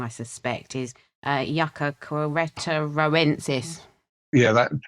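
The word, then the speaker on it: Yucca queretaroensis: wrong, I suspect, is Yucca queretoroensis. Yeah, that's easy when you break it down, actually. It comes from the state of Querétaro. So it's Yucca queretoroensis.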